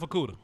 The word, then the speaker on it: Okudah: Jeff Okudah.